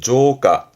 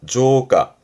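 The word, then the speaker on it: 増加: 발음은 조가. 조가 한자 그대로 더 늘어나는 증가의 조가.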